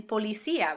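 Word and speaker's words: policía: be pronounced separately well i can use an accent to break up a diphthong like in pua which means spur or in policia which means policia before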